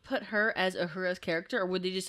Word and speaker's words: Uhura: Like originally they were going to name the character Uhuru, but Nichelle Nichols was like, no, that's like the male pronunciation of that. The female would be Uhura.